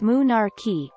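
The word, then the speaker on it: menarche: cycle menstruation occurs between monarche pronounced moonarchy a girl's first period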